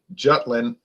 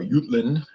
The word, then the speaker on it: Jutland: the Germans tried during the Battle of Jutland as the British say or utland as the Germans and danish would say up there at the